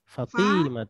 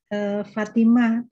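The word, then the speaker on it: فاطمة: Fatimatunya kan harusnya fa-nya terus panjang ya. Saya malah T-nya yang panjang. Fatimah, itu.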